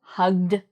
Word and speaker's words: hugged: G, so hug is an example, hugged.